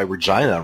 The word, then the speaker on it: Regina: To have the city of Regina in Saskatchewan put up a statue of Deadpool, because that's why Regina rhymes with fun.